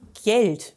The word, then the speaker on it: Gjeld: neuer gast ist eingetroffen geld wird es ausgesprochen ja anders wie man gleich